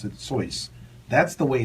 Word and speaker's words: Seuss: hearing me pronounce it sois that's the way it's pronounced we know him as dr seuss that's what the public but it's actually from what i understand pronounce soy right with that in